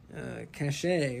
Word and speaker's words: cachet: You know, I mean, he has a lot of cachet, but you can overuse it.